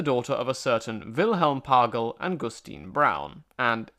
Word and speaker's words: Pagel: She was the daughter of a certain Wilhelm Pagel and Gustine Braun, and it's the German names there that make me think it's pronounced Pagel, but if not, let me know at the show's email address.